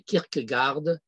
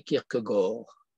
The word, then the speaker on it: Kierkegaard: penseur scandinave protestants est appelé en français kierkegaard et qui devrait se prononcer kirk gore eh bien le judaïsme